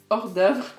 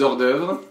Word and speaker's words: hors d'œuvre: Prononcé en anglais comme Hors d'œuvre. hors d'œuvre. Hors d'œuvre. Hors d'œuvre. Ou en fait, si c'est au pluriel, c'est hors d'œuvres. Donc voilà, très américain.